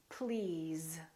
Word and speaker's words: please: Another word is was, because, these, those, please, always. So these are some very common words that we use all the time that are spelled with an S and pronounced with the Z sound.